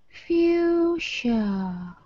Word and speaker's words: fuchsia: Say long U first. U. Uh-huh. Say it again. U. Now put the F in front. Foo. Yes. This sounds like SH. Sh. Yeah. Okay, not that hard. No, not that hard. Too hard, way too hard. Uh-huh. And then this sounds like schwa. Yeah. Sha. Fuchsia. Yeah, let me show you. I thought it is fuchsia. Yeah, that's what most people from other countries would say, but we don't.